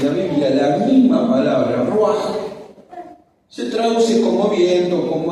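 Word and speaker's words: רוח: Y ahí, a propósito, puse la palabra con la cual se designa, se escribe espíritu en hebreo: ruaj, así como suena.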